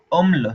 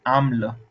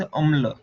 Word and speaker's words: अम्ल: बता दूं कि जो द वर्ड इज अम्ल, नॉट आम्ल, इट इज अम्ल।